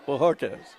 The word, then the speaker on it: Bojorquez: Bojorquez. It's a Hispanic pronunciation.